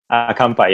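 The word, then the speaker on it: 乾杯: Kampai.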